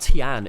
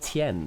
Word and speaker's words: Tian: By the way, in Pinion as well, it's not Tian, it's Tien.